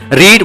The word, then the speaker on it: read: मगर रीड versus रीड, एक रीड है प्रेजेंट टेंस का, दूसरा रीड पास्ट टेंस का, जो कि पास्ट टेंस में हम उसे रीड नहीं पढ़ेंगे, रेड पढ़ेंगे, ठीक है जी।